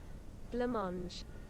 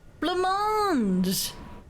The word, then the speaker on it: blancmange: How to pronounce? Blancmange. Blancmange. Blancmange.